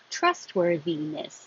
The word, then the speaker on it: trustworthiness: Trustworthiness, this TH is bold because it's a voiced as in that.